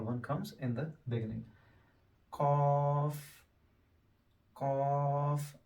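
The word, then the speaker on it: ق: comes in the beginning cough cough back of your tongue when it touches up is the cough a bit round and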